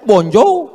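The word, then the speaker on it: bonjour: Tulisannya bon jowur? Bacanya bonjou.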